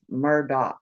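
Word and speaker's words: Murdaugh: don't know and then they call them Alex Murdock like there's a a c or a k or somewhere at the end of his name I don't know I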